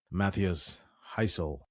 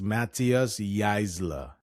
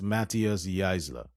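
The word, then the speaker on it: Matthias Jaissle: decided to quit Newcastle and the PIF landed Matthias Heisel. Or Heisel. How do you pronounce this? Let me just get this name pronunciation right. Oh, it's Matthias Geisler. It's Matthias Geisler.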